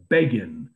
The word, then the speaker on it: Begin: elected the caption was beggin rhymes with fagin and they predicted that